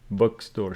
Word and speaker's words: bookstore: went to the bookstore bookstore remember bookstore stress on the first syllable because it is a compound noun good she went to